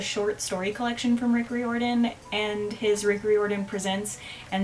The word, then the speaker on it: Riordan: saying, nobody told me I was pronouncing his name wrong. Rick Riordan.